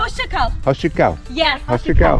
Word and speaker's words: Hoşça kal: Hoşça kal. Hoşça kal.